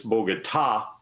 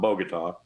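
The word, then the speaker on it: Bogotá: Pompeo needs to know is it's Bogota, accent on the last syllable, not Bogota.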